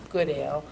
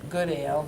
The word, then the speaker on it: Goodale: And he spoke about Kathy and Keith Goodale all night long. I had to let Ben know he'd been pronouncing the name wrong all of these years, that the name is Goodale, not Goodale.